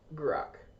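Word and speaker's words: Grok: Is it called is it like rock with a silent G or something? No, it's just Grock. Oh, Grock. I thought you were saying rock. No, I was like, is the G silent?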